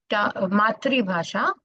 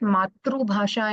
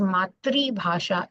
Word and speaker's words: मातृभाषा: Coming to Laksha Bhasha and Matri Bhasha. So we don't call it Matru Bhasha in Hindi, it is Matri Bhasha in Hindi. And though it's written as Matru Bhasha, it is pronounced as Matri Bhasha.